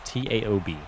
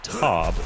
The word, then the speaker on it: Taob: That's exactly how the pronunciation is. Taob. I would say Taub or Tube, but Crockett getting the TFL on himself.